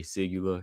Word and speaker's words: Sygula: How do they spell it? Yeah. S Y G U L A. Sigula.